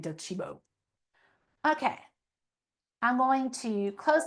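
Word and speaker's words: Docebo: I know it's not pronounced how it looks. It's like Italian, Docibo.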